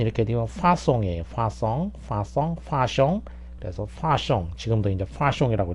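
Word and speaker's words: façon: 그래서 어쨌든 발음은 이렇게 되면 파송이에요. 파숑.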